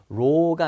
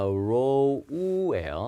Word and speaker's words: row: 발음이 O 발음이에요. row가 아니라 row예요. 그래서 in a row라고 합니다.